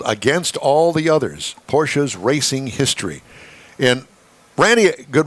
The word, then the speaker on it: Porsche: Well, Ferry Porsche, when I met him, said Porsche. Porsche. Oh, Porsche. Yeah, it's Austrian, and that's how they pronounce that final E. It's sort of like a little bit of a sachet. It's a Porsche.